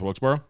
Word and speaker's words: Wilkesboro: North Wilkesboro, I I'm meant. not sure. Someone didn't change his notes. Nope. It's pronounced Burra.